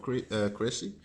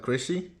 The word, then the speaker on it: Crécy: Of course a cannon, which was first used at the Battle of Crécy. Not crazy, but Crécy. Crécy. I think you pronounce it. I don't know.